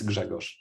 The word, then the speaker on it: Grzegorz: Or Yeah, so if you're not Polish, just pronounce it Greg. I know Yeah, I mean, if you are Polish, it's Grzegorz. Gregos.